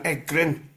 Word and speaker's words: Egryn: this sort of church area plan and then egrin and yeah egrin e g r r y n that's right I wasn't sure how to pronounce it you got it that's a spot